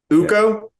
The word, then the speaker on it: Ukko: Ukko? Yeah. Yeah, it's Ukko.